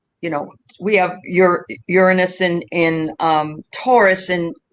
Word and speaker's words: Uranus: decided we would start with taurus in um iran you're i know i'm going to say it wrong again uranus um what that has meant for um the